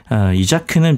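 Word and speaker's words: Isak: 본명은 카렌인데 이자크는 필명입니다. 구약 성서에 보면 이삭이라는 인물이 나오잖아요. 그 이삭을 이제 덴마크에서 발음하기를 이자크 이렇게 발음을 한 거고요.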